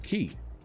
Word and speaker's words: quay: when i said quay turns out that again ki k quay all acceptable pronunciations uh so however you